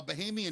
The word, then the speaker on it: Bahamian: the beach and this I guess you say Bohemian, is that the right way to say a I guess. Yeah. Person from the Bahamas. Sure. A Bahamian man was standing there